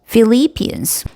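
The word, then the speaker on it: Philippians: 자, 여기서 ph는 f 발음이 나요. 그래서 philians philipans.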